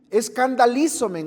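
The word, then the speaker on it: σκανδαλίσωμεν: el idioma original es escandalizomen. ¿Me oyó? Escandalízomen. Así tal cual se le le pronuncio, se escribe.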